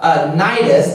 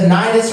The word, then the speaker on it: Cnidus: arrived with difficulty off Cnidus, the C is silent in this word, The wind not permitting